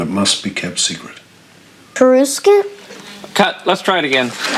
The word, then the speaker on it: Coruscant: I'm used to saying Karuskin. All right. Not Kursan. Kursan.